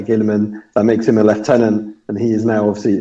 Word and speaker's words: lieutenant: Space Marine Primaris Lieutenant, or Lieutenant, sorry, to use the correct pronunciation.